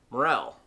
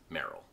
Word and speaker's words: Merrell: will be called tevas this brand has the unfortunate tendency to be called a mushroom people pronounce it morel but it is actually pronounced merrell and last but not